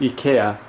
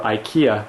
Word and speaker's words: Ikea: from Ika or oh rather yes Ika or Ikea as we'd pronounce it um in the US my nice red shelf